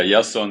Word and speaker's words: Iason: to ask him two times how do you pronounce his name so Janson yanis yeah yason yanis yon yanis there you go welcome to